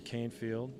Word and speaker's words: Canefield: He says Canefield. A lot of people call him Canfield. Oh. Nobody really knows for sure. He's out of Nashville. I didn't know that. I would have pronounced it Canfield. I think most people up here would. I don't think cares either way.